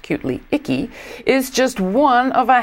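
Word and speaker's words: IC CAE: to be reporting right now that that organization pronounced cutely icky is just one of a handful of programs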